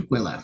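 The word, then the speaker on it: Tukwila: May 2nd or 3rd at the two, how does it pronounce again? Tquila.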